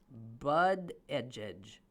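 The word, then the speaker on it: Buttigieg: my friend is sending me the how to pronounce it bud oh he doesn't say but it's bud edge edge don't buddy a judge but engines that's impossible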